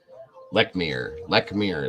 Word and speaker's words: Lechmere: Lechmere is how you pronounce it, okay?